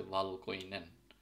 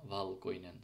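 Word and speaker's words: valkoinen: ভিটা মূলত বাংলা ভয়ের মতো উচ্চারণ হয় ফিনিশে। সো যেরকম ভেরি ক্ষেত্রে যখন ভেরি আমরা বলি, সো ভেরি, সো ভয়ের মতো উচ্চারণ হচ্ছে। যেরকম এখানে একটা শব্দ আছে ভালকইনেন, যার মানে সাদা, ভালকইনেন।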